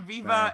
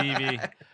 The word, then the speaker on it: Vivi: It's not Viva. It's not Vivi, Viva. Vava. It's Vivi.